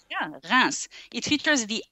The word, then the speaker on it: Reims: Okay, so already the S is pronounced here at the end, which is not common.